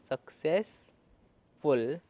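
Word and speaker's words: successful: यहाँ पे जो स है यानी दो एस है, इसमें से सिर्फ एक ही एस की साउंड आ रही है और दूसरा एस साइलेंट है, तो एक एस की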